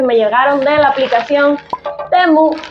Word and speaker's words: Temu: llegaron de la aplicación temu o timu que es como se supone que se pronuncia pero en este canal no le vamos a decir timu porque timu suena a timo y no me parece